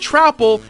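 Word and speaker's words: Troupple: Yes, it's pronounced Trapple and Icor, even the game tells you this.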